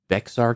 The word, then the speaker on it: Bexar: and I believe it's Bexar County Bear County yeah so it looks like yeah how do you pronounce that bear oh my gosh yeah I know a lot don't don't feel bad because you're not a native Texan no I'm not but common mistake in Texas and people do this